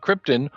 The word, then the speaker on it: Krypton: movie came around mm-hmm they pronounced the planet like the noble gas it was not Krypton